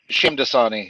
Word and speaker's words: Shamdasani: And so fast forward to 2012, and this consortium of sorts picks it up, and Dinesh Diasani, am I pronouncing his last name right? Shamdasani, yeah.